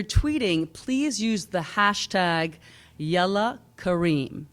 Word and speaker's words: Yalla: And if you're tweeting, please use the hashtag Yalla Kareem, spelled Y-A-L-L-A, Kareem, spelled with a C, like Kareem.